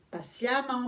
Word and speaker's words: patiemment: Ça se dit patiemment, mais ça s'écrit comme c'est ENT, E deuxième ENT.